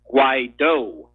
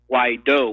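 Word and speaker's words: Guaidó: surname is actually pronounced wydo wydo with the emphasis on the oh okay yeah right why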